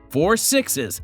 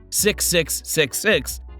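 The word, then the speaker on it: Four Sixes: We must clarify the correct pronunciation, which remains 4 Sixes instead of 6666 or 6666.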